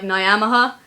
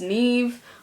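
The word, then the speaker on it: Niamh: so it sounds like if you read it just be like naha it's actually pronounced Neeve but it doesn't sound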